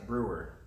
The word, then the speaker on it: Brewer: how do you say your last name brewer brewer and uh he will be making his